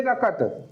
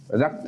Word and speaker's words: रकत: हूं, हमरो गाते वहे रकत, रक्त नहीं होता है यहाँ पे, रकत, ठीक है, संयुक्त का उच्चारण नहीं करते, क संपूर्ण होता है।